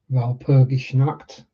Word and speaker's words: Walpurgisnacht: Or Walpurgisnacht, which I guess is the original pronunciation, as it's likely German in origin.